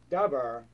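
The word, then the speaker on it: דבר: But the Hebrew pronunciation, dabar, dalet, beit, resh, dabar, means words.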